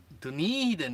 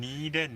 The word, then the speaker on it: Dunedin: Dunedin is the So correct word. Dunedin is the correct pronunciation.